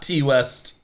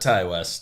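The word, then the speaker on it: Ti West: West I believe is how it is officially pronounced okay it's not T West but Ty West could be either I don't care you make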